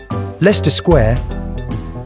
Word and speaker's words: Leicester Square: Leicester Square.